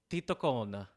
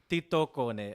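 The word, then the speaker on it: tietokone: I'm going to say titocone. Oh, yeah, it does. Titocone. And it means knowledge machine. It's probably Tito Cone because Finnish, I believe, has the stress on the first syllable.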